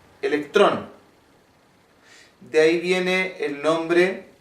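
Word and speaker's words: ἤλεκτρον: animal aparecían chispas bueno el nombre de esta resina se conoce como ámbar que en griego se pronuncia electrón de ahí viene el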